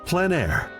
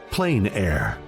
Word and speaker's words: plein air: we cover the world of outdoor painting called plan air. The French coined the term which means open air or outdoors. The French pronounce it plan air. Others say plain air.